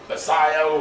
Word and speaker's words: Sayo: over there, Coach Sayo, Sayo, is that how you pronounce it? Or Chow? It sounds like Chow. Sayo or Sayo. Yeah, Sayo. It's Sayo. Yeah, Coach Sayo.